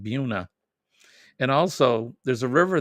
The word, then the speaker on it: Buena Vista: town called Buena Vista but we would say Buena Vista spelled the same but they call it Buna and also there's a